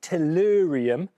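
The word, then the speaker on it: thorium: very well done indeed PA brilliant work um pronounced torium apparently if you touch it or ingest it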